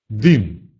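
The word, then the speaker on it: dym: «Ы» произносится так же, как и в русском языке. «Ы» – «дым», «диван». Еще раз. «Дым» – так и будет.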